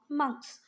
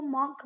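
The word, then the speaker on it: monk: अच्छा, वैसे तो अभी तक हम इसको मॉन्क मॉन्क बोलते हैं, कि आपका टीचर भी हो सकता है उसको मॉन्क बोले, पर इसका जो करेक्ट प्रोनाउंसिएशन है वो है मंक, ठीक है।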